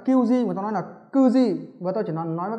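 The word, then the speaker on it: 九時: Nhưng khi đọc theo giờ người ta đọc là kyuji mà ta đọc là kuji.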